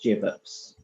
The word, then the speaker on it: Jive hips: Jess of Jive hips Jive hips is pronounced jups jups excellent which I'm